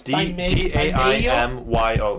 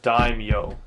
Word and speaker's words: daimyo: no no no no it's d a i m y o it's dime yo that's how they know